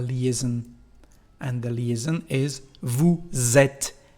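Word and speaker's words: vous êtes: and the leason is Vu zet the sound is like the letter Z the letter Zed Vu zet when you pronounce it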